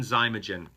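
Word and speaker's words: Xymogen: high end and then zymogen that name is spelled x y mo g en x y mo GE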